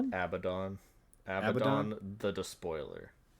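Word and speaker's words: Abaddon: How do you pronounce his name? Abdon. Abdon.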